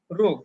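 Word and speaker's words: ρ: ঘনত্বকে রো দিয়ে প্রকাশ করা হয়, পি না, রো। এর উচ্চারণ হচ্ছে রো, গ্রিক লেটার।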